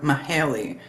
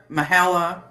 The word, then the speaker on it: Mahala: Mahalia, and some of the family members like to call her Mahaley, but it's Mahala.